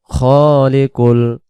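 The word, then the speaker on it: الْخَالِقُ: হু আল্লাহ আল্লাহ শব্দের ডানদিকে জবর হু আল্লাহুল খলিকুল অনেকে পড়ি খালিকুল খালিকুল না খলিকুল বাংলাযে খলিকুল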